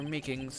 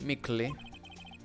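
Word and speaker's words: Meekins: for it actually officer meekings at the attention center told us i had that poor little doggie poor guy i keep getting his name wrong and calling him meekly told us something he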